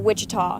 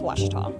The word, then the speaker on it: Ouachita: Back in Texas, everybody pronounces it Wichita, but really, it's Washita.